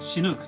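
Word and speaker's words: Chinook: 本当はシヌークと発音するんですけども、 CH で始まるのでチヌークと発音されて、こ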